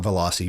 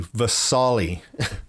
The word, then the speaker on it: Vesali: less in that right velocity yeah not velocity vesali I've been saying it wrong the whole time the sauly is the